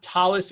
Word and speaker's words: tallis: Tallis is another word for talit. It's the more Yiddish Ashkenazic way of pronouncing it.